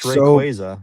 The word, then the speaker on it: Rayquaza: It's Rayquaza.